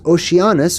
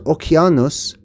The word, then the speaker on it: Oceanus: So Oceanus pops up 13 different times because Oceanus or Oceanos or Oceanos, many pronunciations, was this river-like ocean, we'll call it, okay?